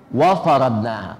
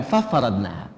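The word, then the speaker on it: وفرضناها: Wa faradnaha bukan fafaradnaha.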